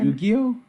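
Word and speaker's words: Yuqi: Like Yu-Gi-Oh? Yeah, like literally Yugi.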